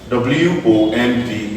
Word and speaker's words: womb: W-O-M-B is called womb. The B is silent.